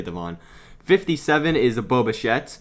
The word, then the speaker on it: Devin: i think it's seven i mean it's spelt devin but people say devon 57 is a boba